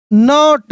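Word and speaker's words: know: ओ W crow did नॉट the crow did नॉट नो के silent है the plan P एल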